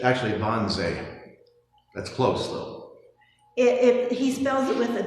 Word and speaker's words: Wannsee: It's spelled with a W, but Germans pronounce W's with a V, so it's Bauway instead of BW.